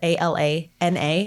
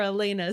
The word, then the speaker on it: Alana: people wrote off elena it sounds so weird to call her elena when i think it's spelled a-l-a-n-a yeah to me that's alana but they kept i'm